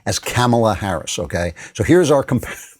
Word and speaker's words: Kamala: It's Kamala, you know.